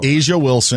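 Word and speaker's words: A'ja Wilson: Wilson how do you how do you I don't know it's Asia Wilson Asia Wilson I'm Sor as Sabrina yancu you don't even have to say ey on Sabrina appreciate it Asia Wilson who's apparently a two-time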